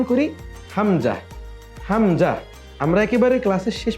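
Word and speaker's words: ء: পরবর্তী হরফ হলো হামজা হামজাটা আলিফের মত আলিফের যেমন কোন মাখরাজ নেই হামজারও মাখরাজ নেই হামজা অন্য হরফের সাথে মিলে উচ্চারিত হয় এজন্য আমরা সবাই আরেকবার উচ্চারণ করি হামজা হামজা আমরা একেবারে ক্লাসের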